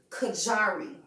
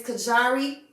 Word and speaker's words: Kajari: and say it out this is how you pronounce thug's name his name is kajari so if y'all been